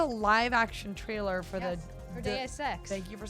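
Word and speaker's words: Deus Ex: I always say Deus X DSX like DSS Machina.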